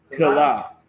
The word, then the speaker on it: Keilah: Keilah.